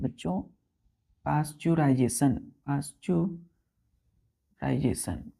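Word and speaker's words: pasteurization: बच्चों इसको हम लोग पाश्चराइजेशन पी ए ए पी ए एस टी ई ई यहां साइलेंट हो जाता है यू आर आई एस ए टी आई ओ एन पाश्चराइजेशन clear है बच्चों क्या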